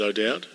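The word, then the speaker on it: O'Dowd: but we got to encourage him that's Thor odad is it odad yes it is that's not an afrian he a it's pronounced o we're going to get into trouble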